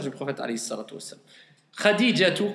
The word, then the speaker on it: Khadija: Khadijatu, quand on prononce Khadija, comment on le prononce en général? Khadija. Mais si on veut rentrer dans les détails, c'est bon ou pas de dire Khadija?